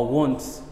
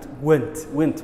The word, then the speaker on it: wants: weeyaan wants saasa loo akhriya wa want wa wants. So don't mispronounce it again. Ha mispronounce gareynin mar dambe. Saasa saxday loo oranaya wa want, it's not went ma.